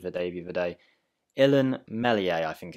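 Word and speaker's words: Illan Meslier: day the other day ellen mellier i think it's pronounced i think the s is silent if it's not let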